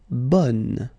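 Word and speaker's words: bonne: So bon will become bun. Okay. So the sound is changing quite much because here you've got this nazal bon. Okay. And then bun.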